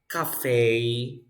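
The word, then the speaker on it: café: ballet ballet if you have Cafe you say Cafe if you have latte you say latte of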